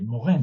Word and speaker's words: Morin: Una breve referencia, me gustaría, si no han leído nada sobre Edgar Morin, sería interesante. Morin, sería pronunciarlo bien, que es francés, es un pedagogo que merecería la pena leerse.